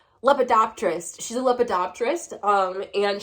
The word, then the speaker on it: lepidopterist: is a oh god i can never pronounce the name of her job i almost always look at the word and say lobotomist but that's not right lepidopterist she's a lepidopterist um